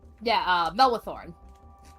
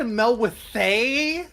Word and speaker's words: Melwithorn: The Dryad, Melwithorn. Melwithorn, there we go. I had Melwithay for some reason in my brain.